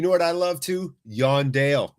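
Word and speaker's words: Jon Dahl: Yondale. It's not pronounced John Dahl, my friends. No, it's Yondale.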